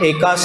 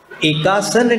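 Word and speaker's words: एकासन: असन का अर्थ भोजन कुछ लोग अशुद्ध उच्चारण में एकास करते हैं एका सन नहीं आसन तो शरीर की मुद्रा को कहते हैं क्या अष्टमी को पूरे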